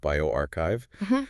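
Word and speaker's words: bioRxiv: Some are published, others are fresh preprints on platforms like Biorox Sev that's pronounced bioarchchive.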